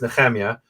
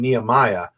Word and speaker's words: Nehemia: And look, my name is Nhema. People call me Nhemia and Nehemiah, but it's still different than I like to say, just don't call me Baldi, right?